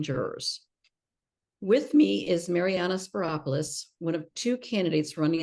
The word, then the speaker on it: Spyropoulos: voters um I'm Marana speropoulos really easy name it rhymes with Metropolis um I am currently